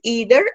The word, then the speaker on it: either: they pronounce it as either and neither for British English is pronounced as a diphthong whereas the American English is pronounced as long a either neither this one and